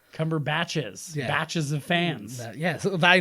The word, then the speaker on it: Cumberbatch: time it's me no it's never been cumberbach it's Cumberbatch yes oh I've lost